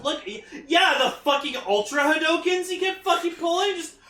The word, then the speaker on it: Hadouken: Yeah, the fucking Ultra Hadokens he kept fucking pulling, just... Hadouken! Hadouken! He was doing fucking Hadokens!